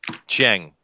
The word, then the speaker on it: Chiang: Do you know how to pronounce that, Chester? Chang.